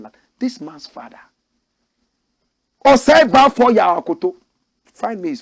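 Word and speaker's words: Baffour: Osei Bafo Yaw Akoto. Find me his photograph. Osei Bafo Yaw Akoto. Bafo is spelled B-A-F-F-O-U-R.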